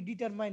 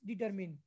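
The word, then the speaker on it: determine: জিনিসগুলো আমরা ডিটারমিন করব আমরা অনেক উচ্চারণ করি কি ডিটারমাইন নট ডিটারমাইন ইটস ডিটারমিন আচ্ছা এখন আসো আমরা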